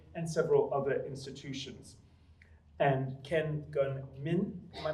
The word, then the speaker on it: Ken Gun Min: And Ken Gun Min, am I pronouncing that correctly?